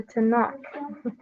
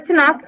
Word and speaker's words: Tanakh: I might say the name of this wrong. The Tanakh. I think that's how you say it. No, the Tanakh. No, it goes down and up. Okay. Yeah. The Tanakh is a collection of